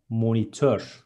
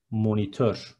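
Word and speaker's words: monitör: Next one, monitor is monitor. Be careful, there is ö in the end, and it is monitor.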